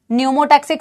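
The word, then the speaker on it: pneumotaxic: ये P silent है, न्यूमोटैक्सिक centre. इसकी लोकेशन भी बेटा पूछेंगे आपसे, इसकी लोकेशन भी पूछेंगे बेटा आपसे, कहां लोकेटेड होता है.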